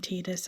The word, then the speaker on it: Tidus: the the way it feels natural to pronounce it is Titus. And I feel like it's nice because the the re- the references to the sun and moon, tide like water, um the tide coming in. I feel like it's a nice poetic sort of um name for that. But yes, I do apologize to those who would prefer me to call him Tidus as is proper, but I'm sorry.